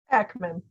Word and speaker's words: Akmon: How do I pronounce that? Akmon.